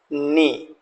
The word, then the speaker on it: know: बता द आपको यहां डब्लू भी साइलेंट है राइट डब्लू भी यहां पर साइलेंट है इसलिए नो बोलेंगे राइट अब दूसरे साइड